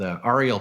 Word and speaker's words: Arie: Arie, yeah.